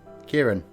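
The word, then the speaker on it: Ciarán: named kukiran is that that's my real name kieran so i figured i'd share that with you guys and it's spelt really weird and the way it's spelt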